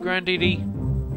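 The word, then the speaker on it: Grandidi: Is it Grandini? Yeah, Grandini Forest. There we go. I can start pronouncing it properly.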